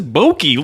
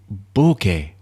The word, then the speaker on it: bokeh: He must have been fed up with like, hey, this bokeh looks great. I'm so boke. So he basically went through a lesson. It's bokeh, Keh, bokeh.